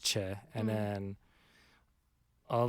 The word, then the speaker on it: Choi: it is choi yeah c-h-o-i but it's che as in c-h-a-e right so it's like